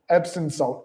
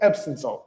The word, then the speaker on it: Epsom: upset about Epstein um, Epstein salt because I've been saying Epstein salt. I know it's Epstein salt. It's again words very tricky. Epson salt. Epsom salt. That's what I mean. Yeah, Epsom salt.